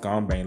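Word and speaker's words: 공방: The workshop, pronounced Gongbang, literally means workshop, also referred to the creation room, the blacksmiths, the factory, or Gongbang.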